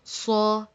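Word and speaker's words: ص: pronounce it together saw try to make your voice a little bit heavier so it's not like say slaw saw ok let me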